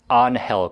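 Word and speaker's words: Ángel: you called the golfer Angel Cabrera yeah bro yeah that's his name bro no no no no no it's onhell Cabrera he's Argentine again you really need to learn how to say these names oh yeah well you're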